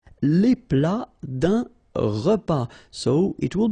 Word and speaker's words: plat: Then un plat principal, final T here, not pronounced.